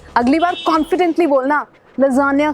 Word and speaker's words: lasagna: Italian word है, मगर इसको क्या बोलते हैं? लजानिया। अगली बार कॉन्फिडेंटली बोलना लजानिया खा के आया हूँ, या फिर वेटर को बोलना मेरे लिए लजानिया।